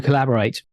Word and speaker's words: Collabor(h)ate: it yes collaborate and talk about it as being a silent to each author so if you if you swallow the age it still works excellent so collaborate it's